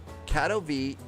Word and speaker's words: Katowice: It's Katowice and it's Chisinau. All right, hang on. You know what I need to do? I'm going to copy those pronouncers over right now. Okay, so it's Katowice, and Chisinau.